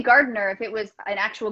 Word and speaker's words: Gardiner: it's gardner yeah i would probably drop the eye as well yeah that's just what i do it's very rarely that you hear the eye unless you're saying my name really slowly yeah well i mean